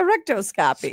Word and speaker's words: rectoscopy: A rectoscopy. Spell that out.